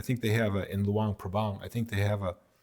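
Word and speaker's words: Luang Prabang: It's actually pronounced Luang Pbang. Luang Pabang.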